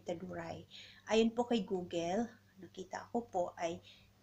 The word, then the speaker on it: Teduray: Ang tamang pag-pronounce po ay Teduray.